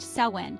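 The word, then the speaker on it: Samhain: these were Central to samhan pronounced saen the Celtic Festival marking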